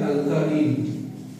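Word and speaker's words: alkyne: आपकी प्रोनाउंसिएशन के लिए मैं लिख रहा हूँ, सॉरी, अल्काइल, इसको बोलते हैं अल्काइन, इसको बोलते हैं अल्काइन।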